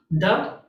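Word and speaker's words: δ: math symbol lowercase delta it's just a d sound duh now this can kind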